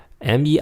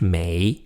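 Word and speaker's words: 没: one make one see Mei is pronounced almost like ma why in English Mei Mei Mei means have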